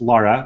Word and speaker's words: Lara: It's Lara, like car.